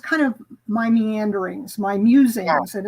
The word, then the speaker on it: Mewsings: is really just kind of my meanderings, my musings, and it's called Musings, MEWSINGS, because I love cats. I was like, is it meow sings?